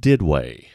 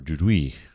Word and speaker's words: Duduit: Pronounced Didway or Dudouis in French.